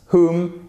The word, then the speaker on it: who: Vous voyez qu'on ne prononce pas le W ici, ici, ici. Ok, donc c'est pas who, surtout pas, c'est who. Vous commencez par le H.